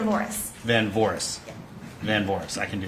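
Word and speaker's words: Van Voorhis: first my first my last name is Van Boris spelled BS and Victor a n v as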